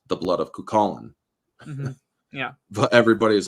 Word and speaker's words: Cuchulainn: If you try pronouncing it, it's the blood of Shushaline, where it's actually, if you look at, or it's not phonetically pronounced. It's the blood of Cuchulainn.